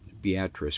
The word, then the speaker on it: Beatrice: little bit more in beatric we discovered the way you pronounce this town as beatric and uh I thought it was beatric but beatric we discovered and so we'll go